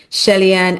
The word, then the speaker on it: Shelly-Ann: and advocate for economic freedom among Caribbean women, Shelly-Ann Aqui Solomon. I hope I pronounced your name properly, Shelly-Ann.